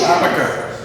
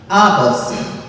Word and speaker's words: ABC: But it's actually pronounced Abasi. Abasi. So they just pronounced the name, the letters, and that's what it was.